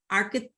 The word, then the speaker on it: archetype: I think I think I don't think that's how you pronounce it archetype archetype thank you thank you archetype I know it's written we don't pronounce h OH police is unmuted